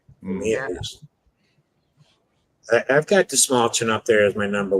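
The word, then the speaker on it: Dastmalchian: David Desmalchin. Desmalchin, yeah. Is that how it's pronounced? Desmalchin?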